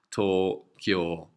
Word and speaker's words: Tokyo: capital so that's what it means and it's pronounced tore cure if you look at Kyoto where I went